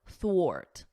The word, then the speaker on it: thwart: It's a or, thwart, ort, thwart. So you could think of it like or, and then just add a T, and then wart, thwart.